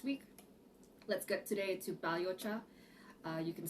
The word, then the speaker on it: balhyocha: green teas last week let's get today to baliocha uh you can spell it b a l y h y o